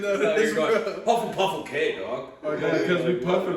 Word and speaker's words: Hufflepuff: It ain't even Puffle, dog. It's Huffle. It's Hufflepuff. Hufflepuff, okay. I ain't even know So that. you're going, Hufflepuff, okay, dog.